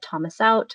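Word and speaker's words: təməsew̓txʷ: And, uh, you pronounce it, Thomas Out Aquatic and Community Center, uh, which opened in 2024.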